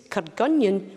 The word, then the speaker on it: Kirkgunzeon: colzine Mingus spelled Menzies cargonian which is a village near dalbiti spelled cargonzion and Diel which is spelled